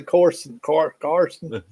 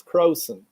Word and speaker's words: Croson: I was about to say Carson, but it's Croson.